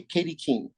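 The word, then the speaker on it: Katy Keene: um um um Kath Kathy Keen am I pronouncing that one correctly uh K Katie Kean Kati K yeah I I wrote and Drew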